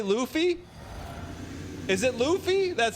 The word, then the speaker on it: Luffy: it's it's how you say Luffy is it Luffy that's how you say it anyways you like